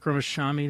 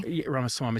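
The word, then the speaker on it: Ramaswamy: and then there was the Vivic Rashami. Am I saying it right? Um Vivec Roma Swami. Ramaswami, excuse me.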